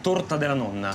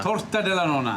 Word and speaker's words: torta della nonna: Torta della nonna. Torta della nonna.